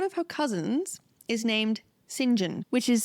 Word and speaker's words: St John: her cousins is named singen which is spelled St John and so that's quite confusing but apparently because it came from French we pronounce it singen singen yes he tries to